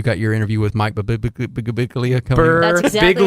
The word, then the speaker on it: Birbiglia: Suicide Squad out this week, as well as Don't Think Twice in limited theaters, and you got your interview with Mike Birbiglia coming.